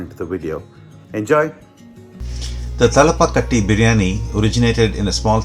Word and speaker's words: Thalapakatti: In this episode we will make Thalapakatti Biryani.